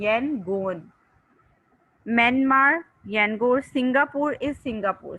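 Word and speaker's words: Yangon: उन्होंने प्रोनाउंसिएशन के लिए YAN सेपरेट किया हुआ है और GON सेपरेट किया हुआ है, यनगोन।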